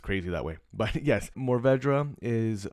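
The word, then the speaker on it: Mourvèdre: grape and Morvd Morvdra, however you want to pronounce it, you can pronounce it two different ways. If there was a Frenchman on or listening to this, he would probably be, you know, just really disgusted because it's morv.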